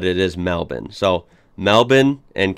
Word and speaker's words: Melbourne: So yeah, Canberra, and Melbourne is said as Melbourne. So the American in me would have said Melbourne at first, but it is Melbourne.